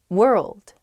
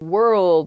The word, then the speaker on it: world: one's hard world world hard to pronounce that rld I think together is tough Plus that W at the beginning as well it's such a short word but you have to say so many weird things at the same time